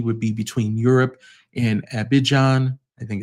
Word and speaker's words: Abidjan: Air France economy would be between Europe and Abidjan, I think it's pronounced Abidjan, Riyadh, and Johannesburg.